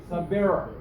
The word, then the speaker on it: Sabir: You stress on you have to utter R. Stress where? No, on R. the B. Sabir.